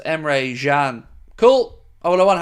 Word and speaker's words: Emre Can: It's pronounced Emre Can.